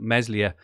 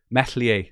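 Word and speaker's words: Meslier: lovely welsh accent but meslia is pronounced without is pronounced without saying the s me messier that is welsh anyway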